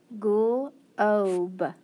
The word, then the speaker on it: globe: That's right, it's the O, but then it's got a consonant and an E. So that means it's going to be a long O and cross out the E because it's sneaky E. And that GL, remember, I can blend together and say gl.